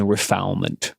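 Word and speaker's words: refoulement: that is called chain refilement. Right? One could probably also pronounce that as if it were a French word. Uh but I have decided not to.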